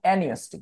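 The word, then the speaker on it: apneustic: দুটার নাম নিউমোট্যাক্সিক এবং অ্যানিস্টিক দেখো বানানটা অ্যানিস্টিক বানানটা হচ্ছে অ্যাপনিওস্টিক বাট নিউমো বানানে আমরা কি পি উচ্চারণ করি না এজন্য এটাকে বলছে অ্যানিস্টিক কেন্দ্র তাহলে দুইটা নিউমোট্যাক্সিক এবং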